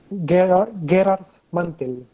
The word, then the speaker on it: Gerard Mantel: Se llama Gerard Mantel, como mantel de la mesa, se escribe el apellido.